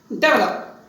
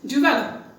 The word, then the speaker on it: develop: I have seen people generally pronounce it as develop. They put wrongly the stress on the first syllable, day. No, it is develop, not develop.